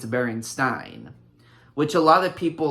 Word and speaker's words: Berenstain: So a lot of people just assumed it was stain when in reality it was Stein.